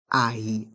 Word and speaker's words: ail: l'ail une gousse d'ail dans le mot a il y a le son ye le I et le l font le son ye a Aï et dans le mot